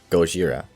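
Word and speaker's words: ゴジラ: Godzilla, or in the Japanese pronunciation, Gojira, King of Monsters.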